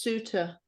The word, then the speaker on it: Sutter: Yeah, actually, it's pronounced Suter.